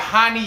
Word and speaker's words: Rani: gonna call him honey he's brazilian and they pronounce their r's like huh like a h sound so we got hani yaya taking on hyung